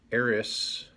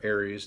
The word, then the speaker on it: Ares: and initial review of the Ares, or Ares depending how you want to pronounce it, Diver-1 Bravo.